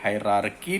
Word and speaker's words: hierarchy: हालांकि स्पेलिंग में हम RARCHY हायरार्की लिखते हैं, लेकिन फिर भी जब प्रोनाउंसिएशन की बात होती है तो हम प्रोनाउंस हमेशा करते हैं हायरार्की.